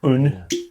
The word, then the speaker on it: Aon: uh little bottle of un which is well it's written Aon but it's pronounced un ga for one which